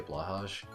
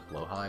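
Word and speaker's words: Blåhaj: pronounce it because like you have the people that don't even try to do the Swedish pronunciation they say blash but um it's honestly closer to blo high but I'm still saying that wrong so it's like do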